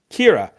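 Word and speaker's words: Ciara: name um I can't quite Kira know how Kira Kira that's how it's pronounced but it's spelled weird it's c i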